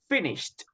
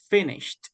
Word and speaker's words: finished: the pronunciation remember it's finished okay finished like a letter T at the end finished okay well done okay